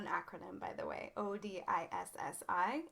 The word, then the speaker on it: Odissi: form it's not an acronym by the way odissi it's pronounced odisi it's a classical indian dance from the temples